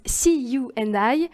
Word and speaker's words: SEAYOUANDI: la créatrice d'une marque qui se prononce see you and I la mère toi et